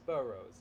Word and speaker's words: boroughs: up of five boroughs so the stress is on the first the first syllable so it's boroughs yeah so the first